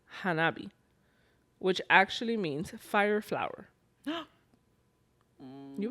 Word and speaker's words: Hanabi: the F the word firework in Japanese is pronounced Hanabi which actually means fireflow you would like that